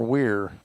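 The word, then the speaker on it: Wyre: Is it Wire or Weir? W-Y-R-E.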